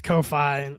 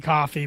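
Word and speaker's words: Ko-fi: I hate that it's Kofi and it they want it to be coffee, but it's not.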